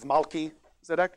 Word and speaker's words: Melchizedek: Yeah, Adonizedek, if you want to say it like people say Melchizedek instead of Malki-Zedek.